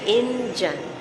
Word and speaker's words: indyan: up so he or she is called an engine it could be spelled in the end as an Indian but pronounced engine there's no official spelling to it